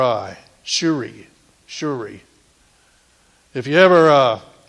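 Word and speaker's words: Tsuri: Wednesday nights amen and tonight's name is Jehovah shuri it starts with a T though TS r i but it's it's pronounced shuri shuri what is it what is it you're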